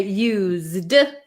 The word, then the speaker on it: used: we're going to say used it's gonna have a z sound so like I used